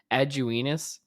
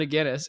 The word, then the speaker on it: Aguinis: And there was this group of people who literally thought his last name was pronounced Aguinis. No.